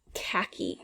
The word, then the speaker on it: khaki: that we don't hear khaki this is kind of a strange word it's a color it's like a tan brownish brownish-yellowish color khaki um and there is that h there that we just don't hear khaki campaign campaign so